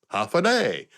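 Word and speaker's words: Håfa Adai: There is a native language called Chammoro, and they have a universal phrase similar to Hawaii's aloha that's pronounced half a day. It's a greeting if you're coming or going. Half a day.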